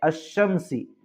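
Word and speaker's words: الشمس: पढ़ेंगे तो देखिए आगे अलिफ लाम अगर रूफे शमसी के शुरू में हो तो अलिफ और लाम को ना पढ़ेंगे बल्कि बाद वाले हर्फ से मिलाकर पढ़ेंगे जैसे अश शमसी या अश शमसुख फे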